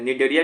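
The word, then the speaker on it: Cnidaria: डरने का नहीं तो निडेरिया का स्पेलिंग सी से स्टार्ट होता है ठीक है सी एन आई डी ई आर आई ए इसको निरिया भी बोलते हैं ये भी एक्वेटिक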